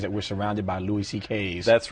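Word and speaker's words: Szekely: It's S-Z-E-K-E-L-Y, and it sounds like C.K., though.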